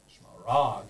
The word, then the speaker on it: Smaragd: The syllables are Smaragd. Three syllables. Well, no, it is two, but Smaragd.